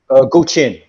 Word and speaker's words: Guqin: How's it pronounced? Guqin.